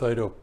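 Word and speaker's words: Eido: into like all of you I agree with Idaho his name is spelled e-i-d-o and these there's quite a few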